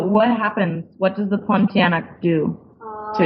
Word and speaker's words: Pontianak: Okay, so similar to the Pontianak, is that how you say it?